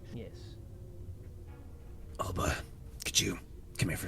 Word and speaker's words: Ulba: pronounce his name again it's Alba UL LBA ulba yes Alba could you come here